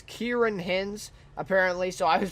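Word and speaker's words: Ciarán Hinds: But anyways, performances by Jared Harris, Tobias Menzies, and I was told it's Kieran Hins, apparently, so I was pronouncing it totally wrong. Not a big surprise there, but anyways, it's Kieran Hins, plays Sir John, of course, and others, right?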